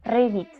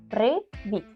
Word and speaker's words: привіт: En ucraniano se dice привіт. Привіт. Ahora se toca a vos. Привіт.